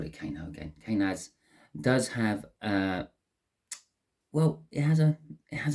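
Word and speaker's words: Kenaz: I want to say Kano. I don't think that's pronounced quite properly. Let's have a little look-see in the book for my pronunciation. Kanaz. It's a bit better of a pronunciation.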